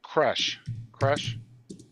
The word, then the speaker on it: Koresh: The David Koresh. I don't want to mispronounce his name Gresh.